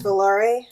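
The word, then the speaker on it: Volare: Is that how it's pronounced as Valare?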